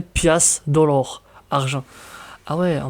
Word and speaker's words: piastre: Piastre, prononcé pias, dollar, argent.